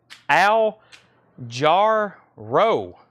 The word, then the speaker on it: Al Jarreau: It's pronounced Al Jarreau.